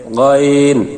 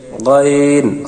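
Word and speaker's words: غ: 3 নম্বর মাখরাজ, হলকের শেষ হইতে গাইন খা। আমরা গলায় যেখানে কাটা বাজলে, কাশি আসলে খেকরানি দিয়ে গলায় খক দিয়ে থাকি, সেখান থেকে এই 2 হরফ উচ্চারণ, গাইন খা।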